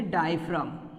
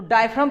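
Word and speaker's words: diaphragm: तो डायफ्राम के मूवमेंट पर भी लंग्स का मूवमेंट होता है। तो ये क्या है? ये है डायफ्राम। यस, जी साइलेंट रहता है, जी इज साइलेंट।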